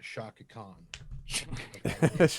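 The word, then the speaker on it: Chaka Khan: it is pronounced Shaka Khan.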